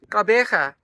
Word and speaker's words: Gqeberha: Hi, welcome to Gqeberha, also known as Port Elizabeth.